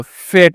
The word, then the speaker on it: fate: लिखा है, तो टी से यहाँ पे तो फेट है ना, ए से एक की मात्रा है, फेट है, और ई यहाँ पे जो ना साइलेंट हो जाता है, ठीक ना।